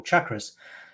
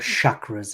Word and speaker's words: chakra: energy centers we call chakras. Yeah. By the way, if you're watching, it's not called chakras, it's called chakras. It comes from Indian subcontinent. Please pronounce it properly.